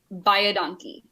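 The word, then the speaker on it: baie dankie: very much," and it's "buy a donkey." Buy a donkey. Thank you very much. Go buy a donkey, okay? Spelled very, very different, but pronounced exactly the same.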